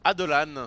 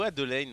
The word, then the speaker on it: Adelan: Et on nous dit que ça se prononce Adelan. Adelan. Adelan et non pas ou Adeline, je ne sais pas.